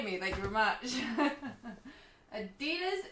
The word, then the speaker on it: Adidas: Adidas is said like we do it in Danish, not like the crazy American.